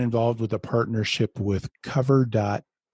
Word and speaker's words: Kover: You guys have recently been involved with a partnership with Kover.ai I use to call them cover and then I found out I was pronouncing that wrong.